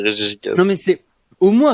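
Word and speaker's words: Regigigas: il y a une réforme sur la prononciation des Pokémon, ça se dit Régis Gigas.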